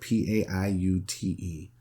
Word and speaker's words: Paiute: around 1869, prophet dreamers among the northern Paiute Indians, and that's spelled P-A-I-U-T-E, it's pronounced Paiute, Indians announced that the dead would